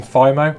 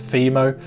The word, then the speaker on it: FIMO: So now it's time to make the laser gun using FIMO, or apparently it's FIMO. Apparently I've been saying it wrong my whole life and my friend Alex corrected me.